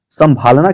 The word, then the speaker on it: संभालना: लेकिन जब आप संभालना की बात करें, देखिए जरा, संभालना, संभालना, संभालना, संभालना, तो संभालना जैसे ही बोले आप, ये नाक से भी प्रोनाउंसिएशन आ रही है।